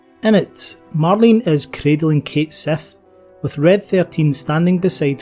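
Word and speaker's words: Cait Sith: despite my scottish accent i'll be pronouncing the robotic feline's name as kate seth rather than the etymologically correct cat she simply because that's how reeve says it in touch of cerberus before heading down to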